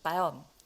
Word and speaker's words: Bayern: 자, 이것도 제가 바이에른이라고 써놓고 바이에른 이렇게 읽는단 말이에요. 바이에른도 아니에요. 사실 바이언 이 정도로 읽으시거든요.